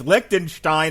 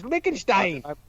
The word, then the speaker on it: Liechtenstein: it says lichenstein it's lichtenstein and it's a real place don't put a tea in there when there's no tea it's lickenstein did i miss the